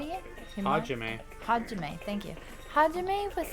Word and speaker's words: Hajime: Himajime? How do you say it again? Hajime.